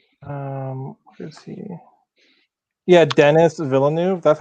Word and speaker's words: Villeneuve: Yeah, Dennis Villeneuve. That's how he pronounces his name Villeneuve.